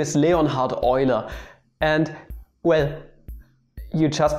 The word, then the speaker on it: Leonhard Euler: __ ] sake don't don't call him wheeler what the [ __